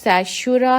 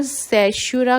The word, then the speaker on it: caesura: तो इस स्टैंजा में there is a poetic device सैशुरा has been used. आप स्पेलिंग लिख सकते हैं CAESURA, सैशुरा.